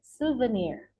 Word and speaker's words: souvenir: you can simply say souvenir. Souvenir. Souvenir. Okay, and then pay attention on how to pronounce this word. In Indonesia, sometimes we say it souvenir, but in English we say it souvenir.